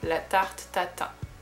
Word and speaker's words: tarte tatin: in the States, and I've heard people saying tarte tatin, and they pronounce the N, but that's not how we say it. The right pronunciation would be la tarte tatin.